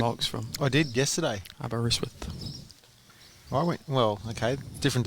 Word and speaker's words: Aberystwyth: Pronounce that place where Mark's from. I did yesterday. Aberystwyth.